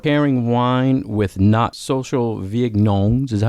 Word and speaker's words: vigneron: Social vignerons.